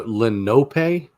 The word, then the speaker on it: Lenape: so they raised him so lenopay or is it Lenape yeah um I mean I always just pronounce it Lenape because that's what it looked like um I've watched other YouTubers try to pronounce it and add syllables to it and stuff like that it's like no no no you're you're overthinking things I've recently come across